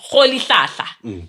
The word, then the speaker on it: Rolihlahla: No, let me pronounce it correctly. Rolihlahla, which means troublemaker.